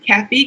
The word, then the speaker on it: Kafi: them it's my name I know how to pronounce my name it's Kathy K AFI and last name